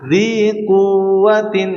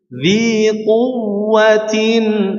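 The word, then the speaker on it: ذِي قُوَّةٍ: Kalau dibacanya dzi quwwatin nanti wawunya lemah ya, harusnya ditekan agar wawunya tasydidnya jelas ya. Dzi quwwatin tapi enggak dilama-lamain karena ini bukan gunnah ya.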